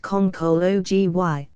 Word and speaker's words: conchology: Yes, and this is it, pronounced conchology, and derived from the Latin concha, which means properly a shellfish with two shells, joined by a hinge, as the oyster, the cockle, etc.